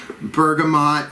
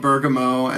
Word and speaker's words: bergamot: I've got that hunka chunka bergamot. I used to call it bergamot, and then I realized how ridiculous that's bergamot is, I believe, the appropriate pronunciation.